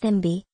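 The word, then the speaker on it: cibi: team used to perform the chibi pronounced thembi before their matches the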